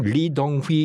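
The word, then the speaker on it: 李登輝: 그때 무슨 일이 있었냐면, 대만의 그 당시에 총통이 1995년 당시에 대만 총통이 이등휘라고 하는 사람이거든요. 네, 그 한글로 발음대로 쓰면 리덩휘 이렇게 썼더만요. 아무튼 그 한자를 한국식으로 읽으면 이등휘 총통인데요.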